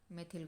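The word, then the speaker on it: methyl: है इसको बोलते हैं मेथिल ग्रुप, इसको बोलते हैं मिथिल या मिथाइल, जो भी आप प्रोनाउंस करें दोनों सही है।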